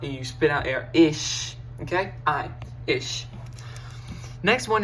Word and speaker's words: ich: first of all so ish you start with ish okay ish i ch e okay e with an i sound e it's more kind